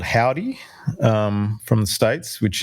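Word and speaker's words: Hovvdy: Um I've been listening to a lot of this band called Howdy, um from the States, which is it's spelled H O V D Y.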